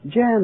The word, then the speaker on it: Jan: John? Let me How do you pronounce that, Jan? Jan, that's right.